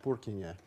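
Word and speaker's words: Purkyně: He would have pronounced it Purkinje, P-U-R-K-Y-N-E, with a little doodad over the N to make it a ny instead of a n.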